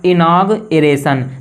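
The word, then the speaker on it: inauguration: अगला है, इसको क्या पढ़ा जाएगा, इसका प्रोनाउंसिएशन क्या होगा, इनागरेशन।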